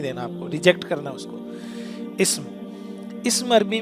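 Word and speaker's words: اسم: इस्म, यहाँ पे अलिफ जो है ना वो साइलेंट हो गया, ये होता है इस्म।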